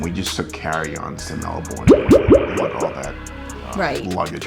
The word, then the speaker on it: Melbourne: when we were checking in to go to Melbourne. We keep saying Melbourne, but they pronounce it Melbourne.